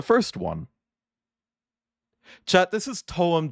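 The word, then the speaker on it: TOEM: Like, it's it's pronounced like t u u m, but it's like two syllables kind of together, you know, like it's term.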